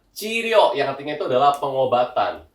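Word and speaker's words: 治療: Jadi cara bacanya itu adalah chiryo yang artinya itu adalah pengobatan.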